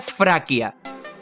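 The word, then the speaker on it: Фракия: como F por ejemplo el nombre de la región de tracia en español en ruso se pronuncia fraia es decir vemos que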